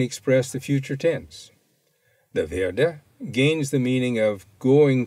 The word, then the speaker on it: werde: The werde gains the meaning of going to do whatever the infinitive means. Notice that the W has the sound of V.